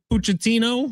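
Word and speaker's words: Pochettino: So, this beef apparently goes back to Mauricio Puchettino, right?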